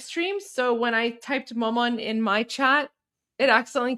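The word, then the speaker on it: مامان: It's maman.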